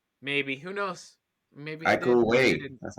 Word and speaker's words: Iko Uwais: Maybe Iko Uwais.